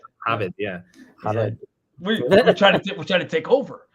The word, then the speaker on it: Javed: In university, people used to pronounce my last name as H because they thought it was Spanish name. Javed. Yeah. Javed.